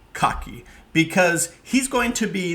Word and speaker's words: Kagie: Now, a quick note on Rudie Kagie, and I might get that wrong and say Kagie because that's how it's spelled in English, but Rudie Kagie, because he's going to be the central voice of what follows.